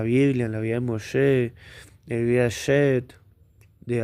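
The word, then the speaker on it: משה: Por ejemplo, Mosé o Moisés en hebreo es Mosé. ¿Por qué es Mosé y no es Muche o o Musó?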